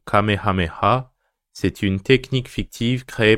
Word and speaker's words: Kamehameha: Le Kamehameha, prononcé à la japonaise le Kamehameha, c'est une technique fictive créée par Akira Toriyama dans le manga Dragon Ball, en 1984.